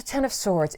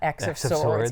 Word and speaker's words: X of Swords: So Ten of Swords. It is pronounced Ten of Swords. It's not X of Swords, even though everything else having to do with the X-Men is X.